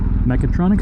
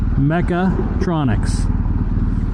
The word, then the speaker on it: mechatronic: See, I said it right that time, but that's good. I learned it wrong. And then, you know, the rule of primacy, you learn something wrong, it just sticks. Really sticks, too. So, I keep dropping that damn A.